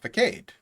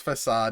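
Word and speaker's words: façade: a what he's like yeah vacate but he looked at me right in the ice like do you mean facade i was like no i mean that's how that's how it's spelled i didn't realize that it was facade until i was 21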